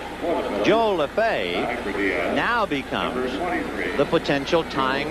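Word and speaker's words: Lefebvre: So Joe Lefay spells his name the same way but pronounces it differently from the Dodger infielder Jimmy Le Fever.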